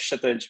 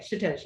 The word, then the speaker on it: Kshitij: It's my name's Kshitij, by the way. Yeah, the K is silent. Oh, okay, Kshitij.